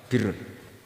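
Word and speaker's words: بِرّ: Ya kalau di isim fa'ilnya umumnya guru-guru kita baca barin, tapi untuk masdarnya untuk kebaikan bacanya apa? Birun. Nanti kamu protes, oh barun itu daratan Gus, kalau birun itu kebaikan. Aku itu macaku kamus luwih suwi bocah kok sembrono.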